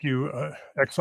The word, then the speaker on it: Xi: I think XI is pronounced Xi.